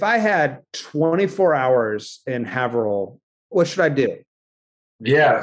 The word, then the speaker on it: Haverhill: if not my constituents would kill me it's Haverhill thank you yeah one of those Massachusetts towns that are tough to pronounce 24 hours in April our first and